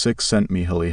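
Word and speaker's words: Csikszentmihalyi: The psychologist Mihi cioli pronounced six sent Miholi has done more than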